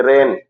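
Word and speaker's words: reign: जी के बाद यन आता है, तो जी का उच्चारण नहीं होता। जैसे रेन, माने शासन करना।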